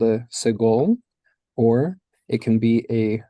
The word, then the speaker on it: segol: it is called a segol, or it can be a segol yod, or a segol malay, right? And it's pronounced as in bed, segol.